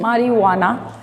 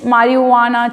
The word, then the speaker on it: marijuana: ये स्पेलिंग है मारिजुआना, right, but जे is silent over here, so इट इज मारिजुआना.